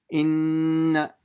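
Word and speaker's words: إِنَّ: Inna. See how I make the nun very short. I do the ghunna, and after the ghunna is done, I just pronounce the fatha and I don't stretch it.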